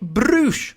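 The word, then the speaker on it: Brüsh: Also, you get to say Brush all the time. It sounds really cool. That's because it's spelled B-R-U with the 2 dots on it, the umlaut U-S-H.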